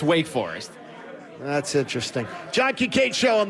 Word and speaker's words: Wake Forest: it wrong on purpose like wook forest you could do that no no now you sound stupid it's wake forest that's interesting john quincho